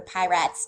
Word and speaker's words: Piratz: Jake to go to Piratz Tavern. It's actually, I think, supposed to be Pirates, but it's spelled like pie rats, so I say it like that as a joke.